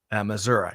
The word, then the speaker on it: Missouri: I'm getting that right chili coffee Chillicothe Missouri yeah there's no I am on the end of Missouri um so with that